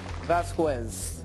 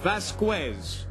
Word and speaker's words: Vazquez: we clear everything up the correct way to say your last name is Vasquez Vasquez Mario Vasquez Mario Vasquez